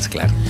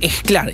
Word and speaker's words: Sklar: Sclar. Tampoco lo digo con S, con J. Juan Sclar, como mosca, que se escribe con J. Aspiramos la S antes de las consonantes oclusivas en español.